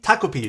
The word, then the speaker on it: Takopi: Toi, I think I'm to to Takopi. Takopi, that's how you pronounce it.